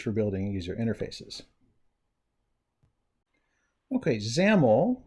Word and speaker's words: XAML: building user interfaces okay zaml which rhymes with camel stands for XML application